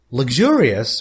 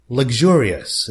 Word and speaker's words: luxurious: Luxurious means elegant. It wasn't very nice, very elegant. By the way, the American pronunciation is luxurious, the way I am reading it.